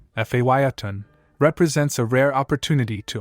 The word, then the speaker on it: Phaeton: 1929 Ford model Phaeton. Price, $25,000. Mileage, 17,847 miles. Location, Fresno, California. The remarkable 1929 Ford model Phaeton, pronounced Phaeton, represents a rare opportunity to own a genuine piece of American hot rod history.